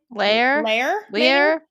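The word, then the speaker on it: Lahr: Lear.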